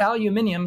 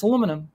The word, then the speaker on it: aluminum: yeah well you know it's not aluminium it's aluminum you know you know